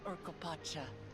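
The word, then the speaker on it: Urqopacha: I actually got really close on the pronunciation. So this is Urkopacha.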